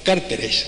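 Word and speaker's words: cárteles: carteles como se llaman ahora los carteles con un acento en la primera a esdrújula de la droga en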